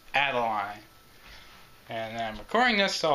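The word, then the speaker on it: Adeleine: in the crystal shard well her name is pronounced Adeline and i'm recording this so I'll remember add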